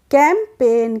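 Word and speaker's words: campaign: इसके बाद है कैंपेन सी ए एम पी ए आई जी एन तो यहां पर भी हम जी का प्रोनंसिएशन नहीं कर रहे हैं तो हम पढ़ रहे हैं कैंपेन क्या पढ़ रहे हैं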